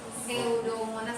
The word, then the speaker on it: Pseudomonas: Pseudomonas bacanya.